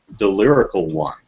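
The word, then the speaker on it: DeLyricalOne: It's Delirical One, as in the Lyrical One.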